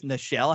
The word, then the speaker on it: Nichelle: that she died because, and I think it's Nichelle, how you say that, isn't it? It is, yeah. Yeah. Yeah. I've heard different pronunciations, but I was always pretty sure it's Nichelle.